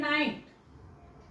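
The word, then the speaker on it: knight: पण सायलेंट येते जोडी जस की फॉर एम्पल शब्द असेल नाईट एन आय जी एसटी नाईट राईट आर आय जी एचटी ना आता याच्यामध्ये आपण वाचतोय का जी एच नाही वाचत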